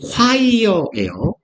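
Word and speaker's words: choir: 합창 혹은 합창단인데 발음은 과이어예요. CH가 Q나처럼 말하면 됩니다.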